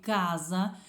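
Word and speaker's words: casa: підсумки ми знаємо що якщо одна буква С як в слові Каза вона між голосними Значить вона звучить як з але коли ми маємо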